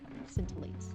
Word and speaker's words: scintillates: So the C part there is silent scintillates are not needed tonight for castle.